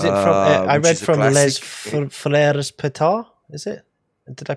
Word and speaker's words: Les Frères Pétard: I read from Les Frères Pétard. Is it? Did I pronounce that Les Frères correctly?